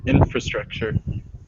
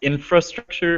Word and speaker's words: infrastructure: And some people pronounce the R, infrastructure, and some people don't, infrastructure. So you can say it both ways. If you don't say the R, it's a bit easier, infrastructure.